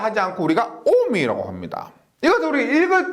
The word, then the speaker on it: 옴: 단위는 오메가라고 하는데, 오메가를 하지 않고 우리가 옴이라고 합니다. 이것을 우리 읽을 때 오메가라고 읽을 때 있는데, 전기를 공부할 때는 오메가를 하지 않고 옴, 저항의 단위는 옴이라 그럽니다.